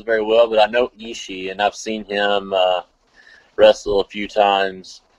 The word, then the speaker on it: Ishii: Ishii. That's gonna be a great one right there. Yeah. That's gonna be a great one. I don't really know both of the guys very well, but I know Ishii, and I've seen him wrestle a few times